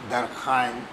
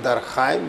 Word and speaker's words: Durkheim: You will have a question on this man, Durkheim. He is with it. I pronounce him Durkheim because he is not Durkheim, Durkheim.